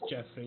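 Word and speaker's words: Geoffrey: I was telling Revan how it's actually pronounced Jeffrey, even if it's written G-E-O.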